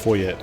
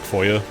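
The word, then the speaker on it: Foie: Believe in Japanese it's pronounced foye. Which makes me think it's more meant to be like German like foya.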